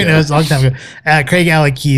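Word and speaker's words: Craigellachie: Craigalackie is the way you really pronounce it.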